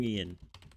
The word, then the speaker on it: Jung: nice nice primer of young oh yum yum Yin that's how you pronounce it's not Jung so here was Sigmund Freud's um Apprentice I